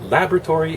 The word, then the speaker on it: laboratory: It's laboratory if you're from USA. Laboratory, USA. Laboratory, emphasis on the second syllable, if you're British.